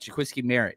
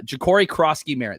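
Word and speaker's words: Jacory Croskey-Merritt: I I think that he could be one of the Did I say his name right? I'm not looking at my notes right now. Uh Jakori Kroski Merritt. There it is.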